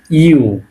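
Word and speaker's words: ю: এরকমটা দাগ দিয়ে এইযে এরকম এটাকে বলতেছি আমরা ইউ এটাকে কি বলতেছি ইউ এটাকে বলতে ইউ ইংলিশে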